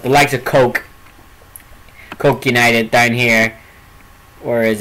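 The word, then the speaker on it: Coagh: Like, Coke United, you wouldn't think it's pronounced Coke because it's spelled C-O-A-G-H.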